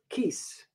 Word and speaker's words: Kies: A.D case still limited case rhymes with geese and if anyone can